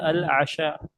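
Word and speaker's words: العشاء: Kemudian untuk makan malam ada al-asya. Al-asya. Ee kalau kita enggak belajar bahasa Arab mungkin kita bacanya tanawul isya. Makan isya. Ah salah bukan isya tapi asya.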